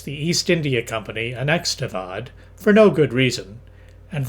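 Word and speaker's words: Oudh: Most of the SEOs in the army of the Bengal presidency came from the northern Indian kingdom of Avad which confusingly for my tongue is spelled O U Dh.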